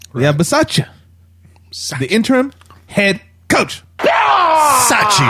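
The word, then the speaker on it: Bisaccia: have it in term coach right we have versace the interim head coach that's how you pronounce his name so so here's my question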